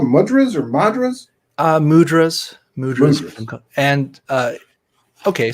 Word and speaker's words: mudras: Mudras? Hand mudras.